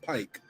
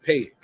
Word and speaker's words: Pike: Because that's how I know it's pronounced Pike, not Pake, or whatever I was saying.